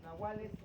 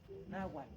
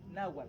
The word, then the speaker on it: nahual: En la lengua na los eh los nahuales se le dice la forma correcta de pronunciarla es naual, no nahual, es nawual o nawalmen.